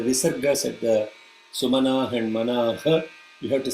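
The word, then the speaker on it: मनः: Okay, the only place is the visargas at the Sumana and Manaha. You have to say Manaha, Sumanaha. Visarga should be pronounced completely, not Sumanaha, Sumana.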